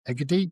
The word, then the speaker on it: Egede: Egede, you're more of a Scandinavian pronunciation.